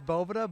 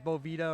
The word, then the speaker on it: Boveda: is it Bhavana it's it is Bovada but hey everyone says Boveda or it's a bunch of different things so okay we do the Tough ways Boveda dude or Bovada if you guys want